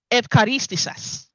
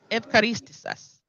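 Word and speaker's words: ευχαριστήσας: It's Evcharistisas. Evcharistisas. Right? A lot of us hear that word today pronounced as Eucharist.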